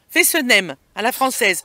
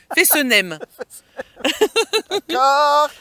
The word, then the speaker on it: Fessenheim: Fessenheim, à la française. On est en France, on doit le dire à la française. Fessenheim. D'accord.